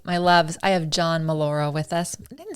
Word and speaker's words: Mollura: All right, my loves, I have John Mollura with us. I didn't say your name right. John Mollura. How do you got say it? John Mollura? Just like you said it, Mollura.